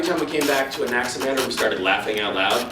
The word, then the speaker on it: Anaximander: Anaximander. What? Don't act like you've never heard it before. It's pronounced the usual way. Just like it's spelled.